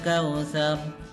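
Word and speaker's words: كوثر: Kau pakai u ya. Kautsar, bukan kautsar. Ingat ya, Kemudian sekarang kita akan membaca ayat kedua.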